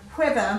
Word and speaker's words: weather: Whereas this one, weather, because you can feel the air after the W, you know it does have an H in there.